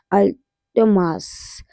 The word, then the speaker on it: Amaltas: अल्ट मास। Okay. L silent नहीं है उसमें।